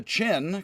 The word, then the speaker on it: Qin: for my purposes but unfortunately chi is now spelled like energy is now spelled q i and for some reason q now stands for a ch sound so the chin which